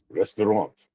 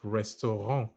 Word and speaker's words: restaurant: ra actually get it the T at the end is silent okay nice nice nice